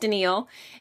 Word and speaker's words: Denille: Um, I'm Denille. It's spelled like Danielle, pronounced Denal.